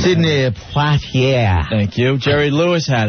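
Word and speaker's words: Poitier: by talking about it mhm uh Sid Sydney porier God I can't say his name Sydney parier thank you Jerry Lewis had it Arnold Palmer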